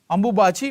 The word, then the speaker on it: Ambubachi: So during that, the people will celebrate as Ambabuchi Mela, right? Ambubachi Mela, right? So pronunciation may be slightly, you can change.